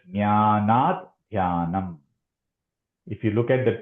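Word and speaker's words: ज्ञानाद्ध्यानम्: So the way to actually chant this, when we chant it should not be jnana dhyanam. It is jnanat dhyanam.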